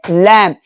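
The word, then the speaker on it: lamb: लैंप। बी को बोलना ही नहीं है। बी का आवाज नहीं निकालना है।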